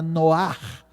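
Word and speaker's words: נֹחַ: leitores originais certamente entenderam a palavra noar pronunciado com essa postura, com essa pronúncia mais gultural tem a ver justamente com isso.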